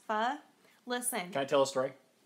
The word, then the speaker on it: pho: Paul's here life hacks have you all had pho or fun oh my gosh it's pronounced fuh listen I tell a